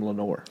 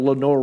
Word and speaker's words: Lenoir: have a university called Lenor Ryan yeah but it doesn't say Lenor Ryan it says Lenoir Lenoir Ry yeah because it is a French word and that's how they would probably pronounce it originally of course we changed